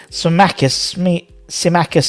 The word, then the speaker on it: Scamacca: Scamacca is how you pronounce it.